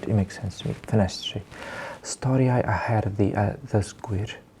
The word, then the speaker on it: Ffenestri: So this one's called Ffenestri, which means windows. I've noticed that this is mostly how Welsh speakers tend to pronounce TRs together. Tri, not tri, tre.